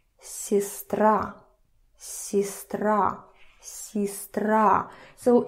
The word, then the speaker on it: сестра: So here, А is stressed, сестра. Let me, in case you don't remember, sister. So we see that Е is not stressed. So listen to my pronunciation. Сестра, сестра, сестра.